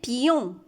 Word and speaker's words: pion: Ici, il se prononce I. Un pion. C'est quoi le pion?